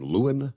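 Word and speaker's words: Louin: Central Mississippi town of Luen I believe is the way you pronounce it l l u i n Luan Mississippi about 55 miles Southeast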